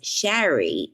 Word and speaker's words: Shari: a r i as Sherry means sushi rice rice with vinegar now I pronounced my name Sherry but it is s h a r i so I was on